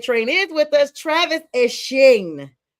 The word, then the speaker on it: Etienne: He is now going back to the Bayou State, and he is Etienne, which is how the French and Creole call it.